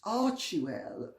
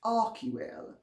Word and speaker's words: Archewell: I think, without being a scold, it's Archewell, or as it should be correctly pronounced, Archewell.